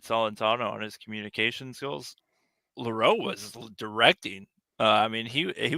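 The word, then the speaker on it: Louro: Leroux.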